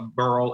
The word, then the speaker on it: barrel: There's also, because I'm from the Midwest, so, I say a burl instead of barrel.